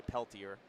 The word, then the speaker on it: Peltier: His card says don't pronounce it like the French way, not the proper way. Say Peltier.